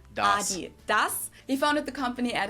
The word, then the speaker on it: Adidas: were referring to because they usually pronounce it Adidas. And in Germany, we say Adidas. Adidas. Adidas. Adidas. Super different.